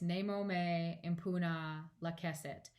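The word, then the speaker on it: Nemo me impune lacessit: And so it's Nemo me impuna lacessit. That's how you say it.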